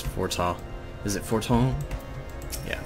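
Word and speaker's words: Fortemps: I have already forgotten how to pronounce Fortal. Is it Forton? Yeah, Forton.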